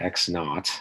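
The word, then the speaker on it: x₀: So I'm going to call a point x naught, x0, I pronounce this x naught.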